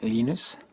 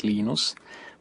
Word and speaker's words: Linus: Um, when I speak Swedish, it's Linus. When I speak Finnish, it's Lenos. When I speak English, it's Lionus. And I really don't care how people pronounce my name, but Linux is always Linux.